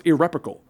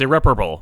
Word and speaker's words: irreparable: myself on the back for being able to pronounce irrepical on the first try you did pronounce it incorrectly what's irreparable irreparable anyway guys if you want to support